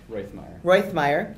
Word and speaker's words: Rothmeyer: Will you correct me, please? Rothmeyer. Oh, that I is supposed to be pronounced.